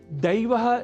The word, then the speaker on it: दैव: तो दैव के उच्चारण में ऐ के स्थान पर यदि हम उच्चारण ए कर दें तो देव यह शब्द सुनाई देगा, और आप जान चुके हैं कि देव का अर्थ होता है ईश्वर और दैव का भाग्य।